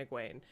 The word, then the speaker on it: Egwene: Egwene, What? say her name. What's her name? Say her name. Her name's Egwene.